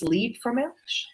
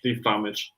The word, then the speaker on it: Liebfraumilch: I'm actually drinking German wine that I definitely can't pronounce. Liebfraumilch. Liebfraumilch.